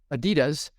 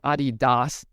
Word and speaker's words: Adidas: Then it was owned by Salomon, and then it was owned by Adidas, or Adidas is the proper way to say it.